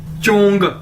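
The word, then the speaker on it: 中: एच ओ एन जीी चंग चंग चंग कैसे बोलेंगे जैसे चंग चंग जच यानी चे चाइनीज में ज को चे के तौर पर प्रोनाउंस करते हैं यानी चंग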